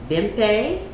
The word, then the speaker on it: Bimpe: us and today we're having a chat with bimpay and i hope i pronounced your name yes yes thank you and